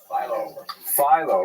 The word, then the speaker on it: Philo: Like the dough rhymes with Milo, right? That certainly makes sense, and that's corroborated by all the websites I could find that tell you how to pronounce Philo. The problem is, in Greek, it's clearly Philo. It's actually Philon in Greek with an N sound at the end.